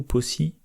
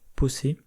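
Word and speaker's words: Posse: Domino, elle a le mot-clé, alors je sais jamais comment ça se prononce, Possé ou Possi, Possé, comme dans Insane Clown Possé.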